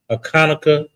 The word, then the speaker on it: Hanukkah: We got a feast day coming up here on Sunday, Hanukkah, also known as Hanukkah, but the real pronunciation is Hanukkah.